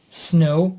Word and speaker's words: snow: letter for example in the first one w is silent look at that snow it is beautiful okay